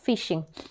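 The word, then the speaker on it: phishing: P silent है, हाँ, फिशिंग।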